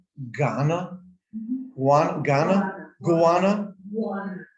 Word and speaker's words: guano: correctly ghana one ghana gowana one that's like iguano without the i right right guana from chile now iguana